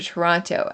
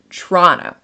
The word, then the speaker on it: Toronto: So it's Toronto. Toronto. And it's like a CH. It's not even T. It's CHR. It's Toronto. Like churro. Toronto.